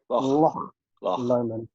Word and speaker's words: Loch Lomond: I've learned how to say this in my recent trip. Loch Lomond, Glencoe, and then arrive into Fort William.